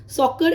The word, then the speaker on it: soccer: सॉकर एक ऐसा example है जिसमें सी के बाद में ई आता है, फिर भी सी का साउंड सा ना होके का ही रहता है।